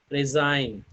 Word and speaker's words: resign: Resign, size, that means G is not pronouncing here.